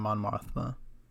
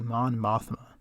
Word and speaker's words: Mon Mothma: to other rebel leaders like Bail Organa and Mon Mothma. I did not say her name correctly. Mon Mothma.